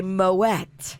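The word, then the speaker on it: Moët: not it's tricky because that is one of the few that you're supposed to say mo wet yes you can tell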